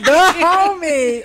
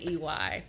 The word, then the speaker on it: Dahomey: So if you D-A, one word. Like oh, it's one word. Not like Dahomey, but like D-A. I thought it was the homie. Okay. One word. Spell it for me. It's Dahomey. So like the Dahomey Kingdom. Not the homie.